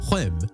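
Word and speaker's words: Reims: in France's Northeastern region which goes by the name of Reems so stay with us to hear all about it first a little look at the history of the club pronounced hem with a heavy French accents for the uncultured amongst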